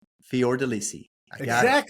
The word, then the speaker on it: Fiordelisi: How do you say your last name? It's Fior Delissi. Fior Deissi.